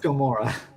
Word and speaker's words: Gamora: that one was actually is it Gamma or Gamora Gamora okay let's think of